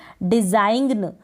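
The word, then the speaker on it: design: जी अगर एन से पहले आता है, एन से पहले जी आता है, तब हम क्या करेंगे? इस जी का उच्चारण नहीं करेंगे। एंड में मिलेगी ऐसे स्पेलिंग्स जैसे कि डिजाइन, आप ग का यहाँ पर प्रोनाउंस नहीं करेंगे, ग को प्रोनाउंस नहीं करेंगे, डिज़ाइन पढ़ेंगे, इसको डिज़ाइन पढ़ेंगे, जी यहाँ पर साइलेंट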